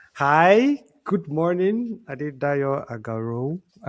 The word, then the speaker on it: Adedayo Agarau: Hi, good morning, Adedayo Agarau. That's how he pronounced it then.